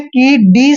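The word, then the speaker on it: could: पर देखिए क्या है कि डी से पहले अगर एल आए ठीक है डी से पहले अगर एल आता है तो डी यहां पर जो है एल हमेशा साइलेंट होता है ध्यान रखना देखिए डी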